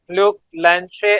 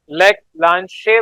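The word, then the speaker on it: Leclanché: इसको हम लेक्लांचे सेल कहते हैं, लेकिन जो CHE है इसको शे पढ़ा जाता है। तो लेक लांशे बोले या ल्यूक लैंशे बोले, एक्चुअल गूगल पे जाके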